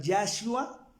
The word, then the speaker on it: Yahshua: la conclusión de que se debe pronunciar Yahshua, no Jesús, ni Yeshua, ni Yehoshua, porque tiene la doble H.